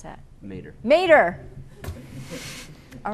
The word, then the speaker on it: Mater: And how do you pronounce that? Mater.